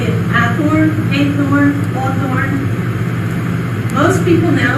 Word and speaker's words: Hathorn: Most of the spellings seem to indicate that in his lifetime, people pronounced his name Hathorn.